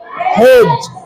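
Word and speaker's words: hedge: soil D silent as एच ई डी जी ई हेज D silent हेज डब्लू ई डी जी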